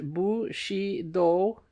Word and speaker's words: Bushido: wife I found that without understanding feudalism and Bushido footnote pronounced bu sh do in putting Japanese words and names into English